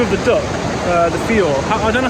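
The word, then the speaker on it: whio: is where you can find a rare bird called the F it's spelled whh IO but in Mari uh wh is said f so it's fi um and they love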